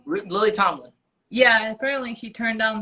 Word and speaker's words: Lily Tomlin: Lily Tomlinson, that's how you say her name. Lily Tomlin.